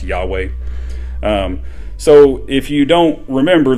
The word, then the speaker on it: Yahweh: it the y uh yhwh that we that we popularly uh pronounce yahweh so if you don't